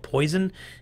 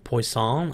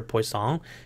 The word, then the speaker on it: Poisson: a previous engineer and his last name was poisson it was French looks like it's spelled poison if we were here in the United States but I believe it's pronounced poisson I don't I'm not French so I don't know but this is a specific